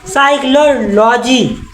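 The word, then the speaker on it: psychology: जी ये कहां पढ़ पी के पहले एस है ना एस के पहले पी तो पी साइलेंट पढ़ साइक्लोजी मनोविज्ञान साइकोलॉजी मतलब का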